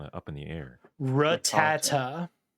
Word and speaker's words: Rattata: up in the air ra tata that is the american pronunciation rattata i like how google